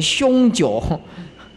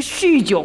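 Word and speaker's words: 酗酒: 那个开车酗酒，以前我都念错，念成凶酒。这个酗酒开车啊，这个都是男众。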